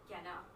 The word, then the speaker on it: canard: Well, that's with an American accent, because usually you don't really pronounce the R-D. It's like canard.